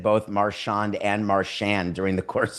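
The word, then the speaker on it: Marchand: This was many years ago he was asked, "How do you pronounce your name?" Brad Marshand. Dan, you're right. Wow. Dan was right. But also, it's not just Americans. It's like the chicklets guys can't pronounce this guy's name with a lick. It's become Marian. And I'm like, do I have this wrong? I assumed it was Marawn, but all these hockey guys are saying Marian.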